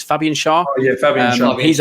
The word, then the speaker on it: Fabian Schär: I think it's Fabian Schär.